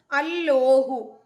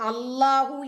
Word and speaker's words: അല്ലാഹു: ളാ എന്ന അക്ഷരവും ഉണ്ട് ഈ രണ്ട് ലാം ചേരുമ്പോൾ ഒരിക്കലും ളാ എന്ന ഒരു അക്ഷരം കിട്ടില്ല ഈ അളാഹു എന്ന് എഴുതുന്നത് തന്നെ അലിഫ് രണ്ട് ലാം ഒരു ഹാ അതാണ് ചേർത്തത് അപ്പം അല്ലോഹു അല്ലെങ്കിൽ അല്ലാഹു അതല്ലെങ്കിൽ അൽാഹ് ഇങ്ങനെ കിട്ടുുള്ളൂ അതല്ലാതെ അളാഹു എന്ന പദപ്രയോഗം പോലും തെറ്റാണ് ആ ഉച്ചാരണം ഖുർആനിൽ നിന്ന് ലഭിക്കില്ല